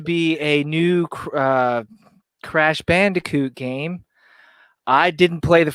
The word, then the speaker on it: Bandicoot: are aware of the this uh uh crash Bandai toot crash how do you say this name I'm trying to read it CRA Crash Bandicoot oh my God I love it um apparently